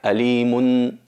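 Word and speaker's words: عليمٌ: otras palabras es alim la siguiente es alimun se pronuncia alimun veis que es una nun s una nun muda al final de la pronunciación y alimin alimin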